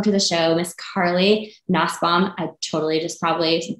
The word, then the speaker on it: Nussbaum: want to welcome to the show Miss Carly nasbaum I totally just probably butchered your last name you actually said it